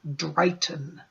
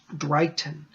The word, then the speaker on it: Dryghtyn: And many of the old Wiccans called the primal mover, the primal force, Drayton. And that's spelled D-R-Y-G-H-T-Y-N. I'll put it up here. Drayton.